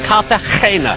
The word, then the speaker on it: Cartagena: It's actually spelt with a G, but you've got to pronounce it G. So, Cartagena.